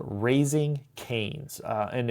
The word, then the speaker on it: Kanes: The the podcast is called Raising Canes. Uh, and it's raising just spelled like raising. But then the word can is KA nes.